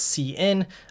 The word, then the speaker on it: cin: the name comes from I usually would pronounce it as C in uh some people might say sin but I I think